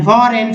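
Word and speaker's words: foreign: फॉरेन, फॉरेन में जी का उच्चारण यानी विदेशी।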